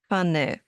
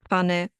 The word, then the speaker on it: Pfanne: We pronounce them as one sound, like in Pfanne, Pfote, Apfel, Napf, Krapfen.